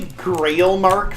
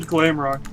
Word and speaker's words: Glamrock: Wait, did you say Grailmark Freddy? I said Glamrock. I butchered the word Glamrock Freddy.